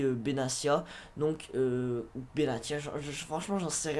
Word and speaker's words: Benatia: côté droit nous avons mehdi benatia ou bénatia c'est comme vous voulez les amis je sais pas comment français donc moi je le prononce mehdi benatia donc benatia franchement j'en